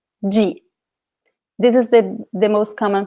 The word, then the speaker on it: de: G. This is the most common pronunciation. G. In other places, in some places in Brazil, people say de or D, but the most common pronunciation is G.